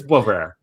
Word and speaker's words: Boisvert: I get caught sometimes when I will say a French name kind of French and it's not pronounced that way. But I think it's Boisvert.